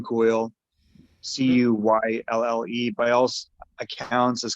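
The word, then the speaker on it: Cuylle: kid they got that i think you could pronounce his last name coyle it's william coyle c-u-y-l-l-e by all's accounts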